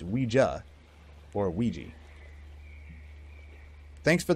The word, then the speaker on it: Ouija: that you know what a Ouija pronounced we JA or a Ouija thanks